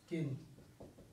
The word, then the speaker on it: kiln: द pieces of pottery are baked in fire by doing in a large oven आर किन, KILN, एल इसमें जो है वो साइलेंट है, किन।